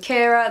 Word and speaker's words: Ciara: gonna be cooling it languages with Keira that's how you say my name in case you didn't know yeah languages with carrot